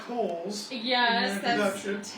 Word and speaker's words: Cowles: I actually have family down here, so there is a big family debate on how we pronounce our last name. So I said Cowles.